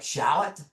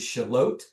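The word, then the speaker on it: Shallotte: So Shalot um most people will try to pronounce it like shallot um but it is Shalot and Shalot is um a really really cool town.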